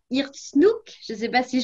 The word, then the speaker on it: Irkoutsk: Alors, pour retracer brièvement ton parcours, alors que tu es directeur de l'Alliance française à Irkutsk, je ne sais pas si je prononce bien, Irkoutsk.